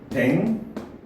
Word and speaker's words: 백로: 자, 얘는 발음이 어떻게 돼요? 백노, 이렇게 발음이 됩니다.